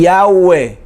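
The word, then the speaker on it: Yahveh: como una i y yagüe es como si fueran más bien cuatro vocales la y la a la uv y la e y yagüe y yagüe así se pronuncia ese nombre así se pronuncia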